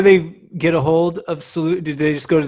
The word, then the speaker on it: Soulutions: It's kind of like fun when people realize, because like it's soul solutions. Like these are solutions for your soul, because it's not just about health and wellness.